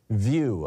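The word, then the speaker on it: Vieux: over on Mastodon is Muriel view I believe is how it would be pronounced v-i-e-u-x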